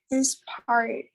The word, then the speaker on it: inspired: Inspired. Inspired. Inspired. Huh? Like a final D.